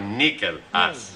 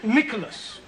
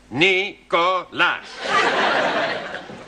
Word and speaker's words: Nicholas: Once upon a time, there was a woman called Nickel Ass. It's pronounced Nicholas. It's all right. Once upon a time, there was a man called Nicholas.